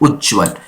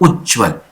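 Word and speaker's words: उज्ज्वल: इसमें उज्जवल जो होता है ये दो आधा ज का प्रयोग यहां पर होता है, उज्जवल। ये सही आंसर प्रोनाउंस होता है, उज्जवल ये होता है।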